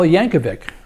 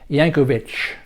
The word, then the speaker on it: Yankovic: Weird Al Yankovic, accordion wizard, often mispronounced Yankovich.